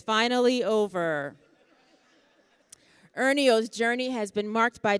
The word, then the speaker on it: Ernio: Pronounced Ernio, Ernio stands here before us today as a shining example of perseverance, focus, and quiet strength.